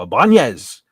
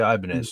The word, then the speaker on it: Ibanez: And occasionally I'll wear them out, and people come up to me and go, Ibanez. No, maybe that's how it was originally pronounced, but it's a Japanese guitar company, and they say Ibanez, so that's what I say.